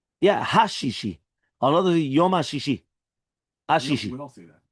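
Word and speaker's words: הששי: The French, they make a big mistake that they don't pronounce the hey. Right? So therefore, since they don't pronounce the hey, right? There's no, they don't realize even there's a hey. You don't know how many times I've said, like, they just don't pronounce it. It's a hey. You have to say the hey, right?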